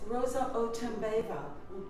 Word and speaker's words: Roza Otunbayeva: we're here at the Bulgarian consulate and it's Rosa otembeva am I pronouncing that correctly very good I'm wondering about